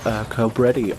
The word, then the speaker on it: Cobretti: So for my car trivia, Cobretti almost rhymes with spaghetti.